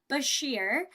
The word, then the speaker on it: Beshear: more than happy if Kentucky's Democrat governor, Andy Beshear, is how you say it, was able to